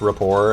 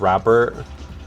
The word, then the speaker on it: rapport: Monsters at Work at the time that I mispronounced rapport as rapper.